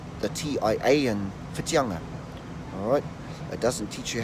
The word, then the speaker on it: Whitianga: So today's kupu of the day, or today's place name is Whitianga. Yes, Whitianga.